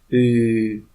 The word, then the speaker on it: Ы: Say E and move tongue to center of the mouth. E. And now only U. U.